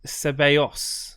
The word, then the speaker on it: Ceballos: And apparently it's Ceballos is how you say it.